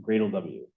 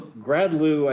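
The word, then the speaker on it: gradlew: So yeah, it's pronounced Gradle W. Although Gradlu, I think, makes a lot of sense too, right?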